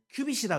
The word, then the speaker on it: 규빗: 그러면 만약에 예를 들어서 우리가 큐빗이라 그러면 큐빗 우리가 규빗이라고 얘기하죠. 여기 발음에서는 큐빗 이렇게 썼는데 구약에서 말할 때 몇 규빗, 몇 규빗 하는 거잖아요.